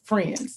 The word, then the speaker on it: Phrinds: She is a communications professional and is also the co-founder of the Friends, it's spelled PH, which I love, PHRINDS, but it's pronounced Friends.